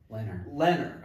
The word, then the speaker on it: Leonard: Even linebacker Brady, how do you pronounce his last name again? Leonard.